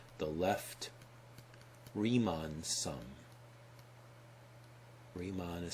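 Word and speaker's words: Riemann: the left sum or sometimes called the left remon sum remon is spelled r i e m Ann named after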